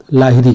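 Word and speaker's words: Lahiri: Book किसकी है, जुल्पा लाहिरी की। ओके, लाहिरी कह लीजिए या लहरी कहिए, जो भी है, क्योंकि नाम में थोड़ा सा प्रोनाउंसिएशन में डिफरेंस रहता है, वो रीजनल लैंग्वेज पे भी, रीजनल बेस पे भी डिफरेंस रहता है।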